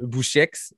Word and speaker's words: Boucheix: Je reçois ou Bouchex. Comment tu prononces ton nom de famille? Ah ben, tu l'as très bien prononcé. On prononce le X.